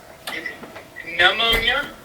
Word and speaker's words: pneumonia: Pneumonia? Yeah, like you get sick, I believe it's liquid in the lungs, pneumonia. Now say something. Yeah, I'm pretty sure the N is silent.